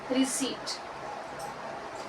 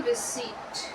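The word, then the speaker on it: receipt: क्या यूज करोगे issue रिसीप्ट issue रिसीप्ट ठीक है अब इसको क्या बोलते हैं सबसे पहले तो इसको बोलते हैं रिसीप्ट नॉट रिसीप्ट प यहां पे साइलेंट होता है अब इशू रिसीप्ट मतलब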